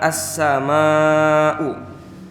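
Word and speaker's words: السماء: Di sini ada halis di kalimat as-sama'u. Ada tanda baca panjang di atas. Itu halis. Maka cara membacanya itu harus dipanjangkan 6 harokat karena ada mad tabi'i yang bertemu huruf hamzah dalam satu kalimat.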